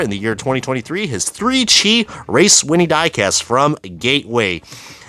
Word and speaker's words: 3CHI: that's really cool and it's three Chi not three chai remember when we actually